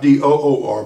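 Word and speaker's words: Dor: is the plane of door d-o-r not d-o-o-r but d-o-r door and then below that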